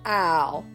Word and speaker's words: aisle: Owl, owl, owl. The first owl, that is spelled A-I-S-L-E, means an open space for passing between rows or sections of seats.